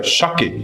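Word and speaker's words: 鮭: Por exemplo, se você tem um sushi de salmão, que se pronuncia chaque em japonês, então você vai ter um shake rossomakizusi.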